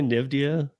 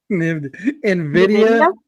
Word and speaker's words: Nvidia: Would I say Nivia? Nvidia.